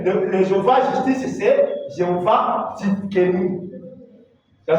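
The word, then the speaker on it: Tsidkenu: Mais le Jéhovah justice, c'est Jéhovah Tzidkenu. Ça s'écrit comme ça. T-S-I-D-K-E-N-U. Tzidkenu.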